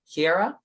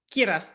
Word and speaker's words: Kira: And you say it with an accent, but how Americanized, like it, Kiara. How do you say your name? Kira. Kira.